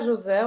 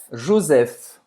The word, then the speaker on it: Joseph: Você pronuncia como em português? José. Não, Joseph. PH em francês tem o som do F, como em pharmacie. Farmácia em francês se escreve assim, mas pronuncia pharmacie. Ou seja, Marie, não pronuncia o E no final, Maria. Não. Joseph vai terminar com um F aqui no final, né?